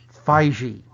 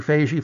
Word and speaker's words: Feige: told definitively from Marvel it is Phi G Phi G Phi P as opposed to Phase II fuzzy fuzzy fuzzy it